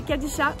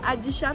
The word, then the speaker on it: Kadisha: Mon endroit préféré au Liban, c'est la Kadisha, ou la Adisha, parce qu'on ne prononce pas le K.